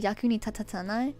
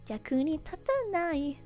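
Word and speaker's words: 役に立たない: I mispronounced that. I said yaku ni tatatsanai. It's supposed to be yaku ni tatanai.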